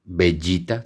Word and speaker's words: Vegeta: su nombre Vegeta se se debería pronunciar como pollita o bueno bellita tal cual como dicho si le enamoran al planeta acá en latino Pero bueno acá optaron por Vegeta porque no sé pensaron